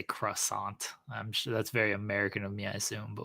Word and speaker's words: croissant: that nowadays that's true it's pronounced Quant Quant it's cant I just say croissant I'm sure that's very